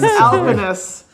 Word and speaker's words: Salvelinus alpinus: Salvelinus alpinus. Alpinus. There we go. That's a little better pronunciation.